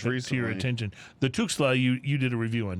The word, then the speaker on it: Tuxtla: I'm sorry, I mispronounced it. It's Tuxtla.